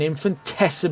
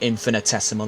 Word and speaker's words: infinitesimal: and the championship hangs in an infantes balance but infinitesimal I should say I've been pronouncing that word wrong new word that I